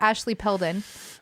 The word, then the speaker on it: Ashley Peldon: I added a extra syllable. Peldon. Shout out Ashley Peldon.